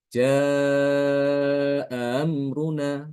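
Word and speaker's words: جاء أمرنا: dibaca Tasil itu maktinnya dia memudahkan bacaan Hamzah ee Hamzah ini dengan dibaca antara Hamzah dengan huruf mad Ya dia tidak dibaca A tapi juga tidak dibaca ee ya tapi tengah-tengah antara keduanya jadi membacanya Nanti ja amruna ya ja amruna amruna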